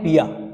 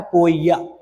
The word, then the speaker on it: poeia: है पिया ठीक है इसको पढ़ते हैं पिया वो साइलेंट रहता है लिखा जाता है पोइया बट पढ़ते हैं पिया पिया यानी टू मेक ड्रग